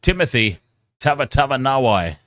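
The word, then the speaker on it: Timoci Tavatavanawai: I appreciate it, but it's Timothy Tava Nawai. Okay, so I was saying exactly as it's spelled. I was calling him Timothy. Timothy. The C is a TH in Fijian. Okay, so Timothy Tava Nawai.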